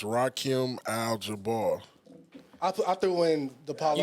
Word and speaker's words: Rakim Al Jabbaar: He's trying to add Like you letters said, and that's you syllables said. to my shit. You said that. It's Rakim Al Jabbaar.